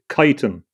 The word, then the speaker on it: chitin: from that time is chitin, or chitin, or chitin is pronounced in various ways. Some people say chitin, chitin. It's chitin, I think, is the best pronunciation.